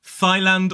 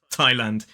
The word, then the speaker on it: Thailand: country Thailand it's not Thailand or thand it is Thailand even though there is a th at the start but as I said